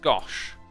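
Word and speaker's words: gâche: have you ever tried guernsey gouch pronounced gosh i do not believe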